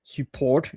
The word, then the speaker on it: support: p o r t the t is silent.